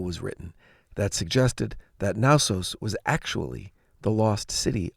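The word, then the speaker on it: Knossos: dating to 7,000 BC naos was a major site of the minoan civilization it's spelled k n o s oos and I'm assuming the K is silent but I'd be embarrassed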